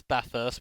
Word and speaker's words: Bathurst: But yeah, make sure you pronounce it as Bathurst.